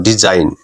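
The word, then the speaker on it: design: ই letter যুক্ত করি তাহলে উচ্চারণটা হয় ডিজাইন তখন জাইন হচ্ছে উচ্চারণ এখানে হবে আইন এখানে হচ্ছে এখানেও আইন দেখো ডিজাইন আইন উচ্চারণ হচ্ছে ডিজাইন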